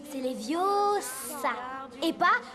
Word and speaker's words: Leviosa: Et puis d'ailleurs, tu ne sais même pas le prononcer. C'est Leviosa et pas Leviosa.